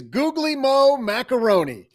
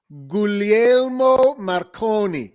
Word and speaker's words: Guglielmo Marconi: Well, the elder we pay homage to today is Googly Mo Macaroni, who, That is I get that? probably not how you pronounce that. that's not it. Let me just sound it out. Guglielmo Marconi.